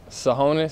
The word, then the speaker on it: Tsohonis: i'm from portland oregon sahonis so that t is silent it's t-s-o-h-o-n-i-s shoot nah